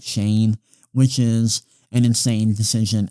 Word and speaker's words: Schoen: And then with the Giants, they are keeping GM Joe Schoen, or Joe Shane. I think it's pronounced Shane, which is an insane decision.